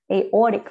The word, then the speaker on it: aortic: word at the end it's aortic so the or you need to you know Raise Your Voice rate your you need to um put your intonation there so aortic vowel so with the aortic